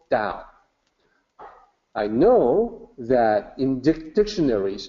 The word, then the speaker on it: Tao: how you slice it the correct way to say it is still down I know that in